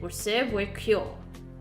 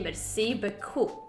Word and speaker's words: merci beaucoup: I just said, "Receive with cure." Isn't that how it's pronounced? Oh, you meant to say merci beaucoup. But I'm afraid it sounded more like be cool, which means you told the baker she had a nice spot.